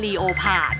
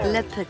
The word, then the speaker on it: leopard: อ ก เ สี ย ง ว่ า leopard อ่ ะ ไ ม่ ใ ช่ ห ร อ no leopard น ะ ค ะ ซึ่ ง leopard ก็